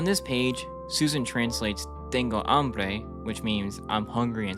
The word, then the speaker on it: hambre: The H isn't pronounced in hambre.